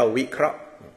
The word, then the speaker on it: วิเคราะห์: แปลก ๆ กัน นะ ว แหวน สระ อิ สระ เอ ค ควาย ร เรือ อ่า สระ อา สระ อะ แล้ว ก็ หอ หีบ แล้ว ก็ ไม้ กรัน อ่าน ว่า วิเคราะห์ คือ ตัว มัน ออก